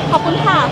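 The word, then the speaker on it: ขอบคุณค่ะ: I mean, how do you say thank you in Thai? Kapunka. Kapunka.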